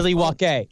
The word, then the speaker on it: Milwaukee: That'll be very Milwaukee. That's how it's pronounced. Is Milwaukee, which means the good land.